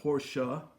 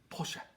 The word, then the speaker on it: Porsche: guten tag and Porsche which is the correct pronunciation it's not Porsche is now Porsche is Porsche and you know I know that because I